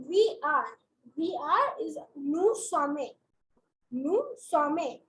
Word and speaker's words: nous sommes: We are is nous sommes. Nous sommes. In this case, you do not pronounce the S.